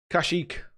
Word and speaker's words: Kashyyyk: and we'll have a game at some point Kashyyyk a go that's how you pronounce it Nashik thanks Jamie Adam says black